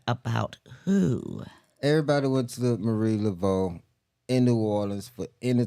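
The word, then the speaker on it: Marie Laveau: in the blood right yes so Marie Lavo Marie Lavo was the baddest voodoo priestess is that how to pronounce it yes Priestess in in history and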